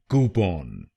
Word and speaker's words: coupon: इसकी सही प्रोनाउंसिएशन है कूपन। कूपन। इस शब्द में दो शब्दांश हैं। पहला शब्दांश है COU और दूसरा शब्दांश है PON। पहले शब्दांश को यानी COU हम बोलेंगे कू कू, और दूसरे शब्दांश को